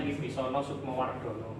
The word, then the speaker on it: Wibisono Sukmo Wardhono: Oke, itu bacanya Wibisono Sukmowardono ya.